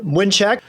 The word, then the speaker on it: Mlynczak: isn't it uh exactly how do you pronounce that name my name is winek well just like said that is uh